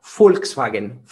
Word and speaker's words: Volkswagen: hispanos van a decir van a poder pronunciar volkswagen volkswagen pero la primera letra es pronunciada como si fuera originalmente como si fuera en alemán una efe así que es algo que se asemeja volkswagen volkswagen pero los hispanos van